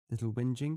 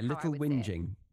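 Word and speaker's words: Little Whinging: I read it maybe the correct British pronunciation would be different from yeah little wiing wh i n g i n g and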